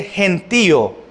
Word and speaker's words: gentío: Ahora, dice el gentío, ¿verdad? Gentío, acento en la I, que es un grupo de personas numerosos que estaban con él.